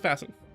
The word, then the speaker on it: Vaesen: Apparently that's how it's pronounced. I was saying Vaesen, and I was like, I should probably look that up. And they're like, oh, it's Vaesen.